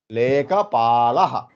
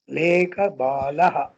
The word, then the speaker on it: लेखपालः: लेखपालः. लेखपालः. अहं लेखबालः। बालः नास्ति, पालः, पालयति। बालः। अहं लेखपालः, लेखबालः नास्ति, लेखपालः।